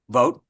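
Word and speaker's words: Vought: Sean, how do you pronounce the last name of the OM chair? Vote.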